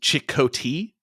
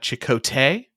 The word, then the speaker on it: Chakotay: It's technically pronounced Chakotay, not Chakotay.